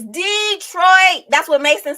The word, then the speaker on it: Detroit: not dallas detroit and make sure you pronounce it right it's not it's not detroit is detroit it's detroit that's what makes them